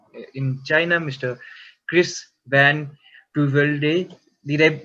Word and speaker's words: Puyvelde: Chris Van Puyvelde. Did I mispronounce the surname? If I did, I'm so No, it's sorry. okay. I Some don't say know. Puyvelde, some say it's Puyvelde, but it's okay, no problem.